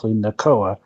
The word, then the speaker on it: Nakoa: that isn't in like there's no hard T sound in the Hawaiian accent. So Really? he put me on with his wife, and we basically said, okay, yeah, so it's actually Nakoa is the proper way to say the name that I was trying to go for.